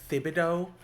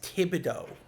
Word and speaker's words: Thibodeau: I don't think it's Thibodeau. I think it's a silent H. I think it's Thibodeau. It's like a French name or something, or a Cajun name.